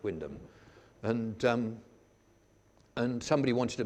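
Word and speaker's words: Wymondham: Y monde ham but that's how things go in Norfolk it's pronounced Windham and and somebody wanted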